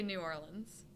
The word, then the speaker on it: New Orleans: think New Orleans but when I think about just saying it I think I say New Orleans yeah that's the right way to say it New Orleans New Orleans that doesn't make any sense there's no I feel like you'd be Southern there's no lens it's Lan you Lan new or